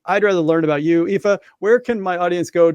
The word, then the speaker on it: Aoife: common outside of Ireland my name is spell a o i f and it's pronounced EA as you very rightly said Thank you and my